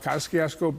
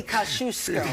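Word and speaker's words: Kosciuszko: for coming in and for pronouncing Kaskiosco because we screw that up every single time. It's supposed to be Kashusco. That's right. I pronounced it wrong just because all New Yorkers do.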